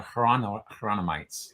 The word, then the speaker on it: Hieronymites: Jerome, the Hieronymites are the Hieronymites, like Jerome, if you pronounce it with a Y sound, like the Spanish would for Jerome.